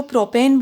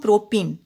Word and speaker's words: प्रोपीन: 3 carbon वाले को प्रोपेन बोलते हैं, लेकिन यहाँ पर एक द्विबंध है, आपको दिख रहा है, ठीक है। तो इसको हम प्रोपीन, इनसे उच्चारण होगा।